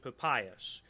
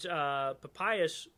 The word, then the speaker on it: Papias: Now, this idea emerges very early on with this dude called, I believe you pronounce it Papias, Papias, Papias of Hierapolis.